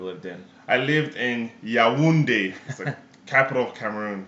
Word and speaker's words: Yaoundé: in i lived in yaoundé capital Cameron so it's pronounced yeah windy there you go um